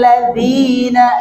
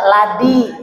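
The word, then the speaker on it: الذي: Jadi jangan dibaca ladi, itu ladi.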